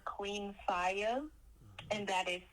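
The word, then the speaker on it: Q33NFIY4: and Audio Mac um under the AR name Queen fire and that is spelled q33 n f i y4 again that's pronounced Queen fire okay now for this album alone you have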